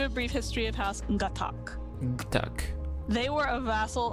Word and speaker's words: Gatac: No, it's Gatac. That's how you say it. Right. The tack. Okay, let's do a brief history of House Gatac.